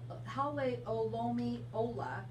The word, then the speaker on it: Hale O Lomi Ola: so but it is wait a minute holly holle o lomi ola but let me spell that out if you want to try it